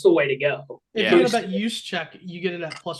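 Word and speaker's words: Juszczyk: G next guy's last name uh just what's use Che y k use Che thank you uh first one to score either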